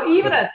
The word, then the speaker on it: Ivana: Now, you'll notice that her name is spelled like the ex-wife of our president, but she pronounces it Ivana, as she explained to me, given her heritage. So, Ivana, tell us about yourself.